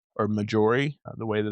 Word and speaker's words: Maiori: So there's 2 right beside each other, Minori and Maiori, or Majori, the way that it's spelled.